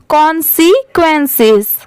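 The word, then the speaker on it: consequences: आप मेरे साथ प्रोनाउंस करिए, कॉन्सिक्वेंसेस, कॉन्सिक्वेंसेस। जैसे देखिए CON कौन हो गया, SEC, और ये क्या है? क्वेंसेस, QUENCES, इसे हम पढ़ेंगे क्वेंसेस।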